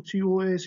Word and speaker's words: tous: Mais attention, quand tout TOS est placé devant un nom, le S final ne s'entend pas à l'oral.